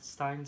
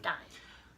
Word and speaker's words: Steen: Stein. Stein. Spelled like Steen, but I think it's Stein.